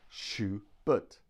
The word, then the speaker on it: Schubert: We have Schubert, Schubert. Now look at the second syllable, B-E-R-T, but, Schubert. This is what we call a schwa.